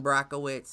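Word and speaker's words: Błachowicz: izzy verse jan or john yan brockowitz i know that's uh the way they pronounce it but um like we said last week izzy moved up from 185 to 205.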